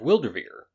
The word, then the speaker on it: Wyldrvir: tabletop rpg that's being developed called world of wildervier and it's spelled w-y-l-d-r-v-i-r you can find that on twitter